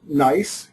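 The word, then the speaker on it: NYESS: So this is NICE, is the way we pronounce it.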